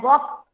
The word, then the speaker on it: walk: Talk and walk, L is silent.